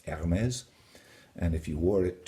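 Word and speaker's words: Hermès: Another consonant which is silent, especially at the beginning of the word, is the letter H. And I'm wearing an Hermes tie. It's not pronounced Hermes, it's Hermes.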